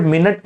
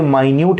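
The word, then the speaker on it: minute: तो ये word मिनट नहीं है, ये माइन्यूट है, और माइन्यूट का मतलब होता है वेरी स्मॉल क्वांटिटी। एक ही वर्ड के अलग अलग मीनिंग, अलग अलग प्रोनाउंसिएशन हो सकते हैं। तो मिनट के तौर पे इसका मतलब जो समय वाला होता है वो, बट इसको माइन्यूट कहते हैं, एंड देन इट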